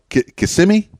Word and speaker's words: Kissimmee: or I guess yeah Kissimmee always pronounced it wrong I'm from Miami so I'm familiar with the area but but you know Kissimmee yes is the way to say it and is that where